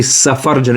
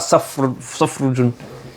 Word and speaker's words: safarjalun: It's supposed to be safarjalun. Is it wrong in your book as well? It's correct. It's safarjalun, not safrujun.